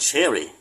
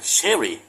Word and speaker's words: cherry: สี แดง แดง เนี่ย แต่ จริง ๆ เจ้า ของ ภาษา จะ ออก เสียง เป็น Cherry Cherry ไม่ เฌอ นะ sherry อ่า เป็น อย่าง นี้